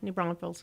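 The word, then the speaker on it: New Braunfels: in the coil County areas out by uh new bronville I think is how you say yeah new bronville yes mhm so how many kids can stay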